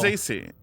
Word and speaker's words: Franzese: I was gonna say because it rhymes with Scorsese. Franzese.